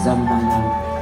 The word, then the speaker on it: Jambhala: ngũ tính thần tài, phát âm là Jambala, dịch ra là ngũ